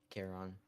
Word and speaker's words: Charon: Karen? Is it Karen? Is that Pluto's moon? Yeah, Charon.